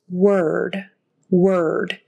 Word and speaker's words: word: the first word is word word it's spelled with an o r we say it like an e word it rhymes with heard heard spelled with an